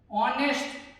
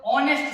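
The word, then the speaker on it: honest: दूसरा है ऑनेस्ट मैन। क्या है? ऑनेस्ट मैन। फिर से ये एच क्या है? साइलेंट है। पढ़ा, हम उसको प्रोनाउंस कैसे करते हैं, उसका उच्चारण किससे करते हैं? तो ऑनेस्ट से करते हैं, इसलिए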